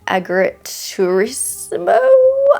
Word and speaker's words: agriturismo: I'm pretty sure we follow 10-year-old Leo who spends her summers at her nonna's Italian agriturismo. I mess up the pronunciation of that word every single time I try.